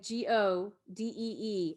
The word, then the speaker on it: Godee: ah say go d like g-o-d-e-e accent on go so godee is how